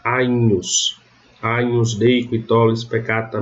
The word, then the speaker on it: Agnus: O GN vai ter som de NH. Então, no exemplo clássico, Agnus não se lê Agnus, se leria se fosse a pronúncia reconstituída. Mas na pronúncia romana eu leio Agnus, com um NH, Agnus.